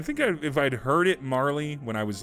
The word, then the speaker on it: Marle: alex question for you do you pronounce it marl or marley i always pronounced it marl uh i think i might yeah yeah i've always pronounced it marl too i've heard people pronounce it marley and i think if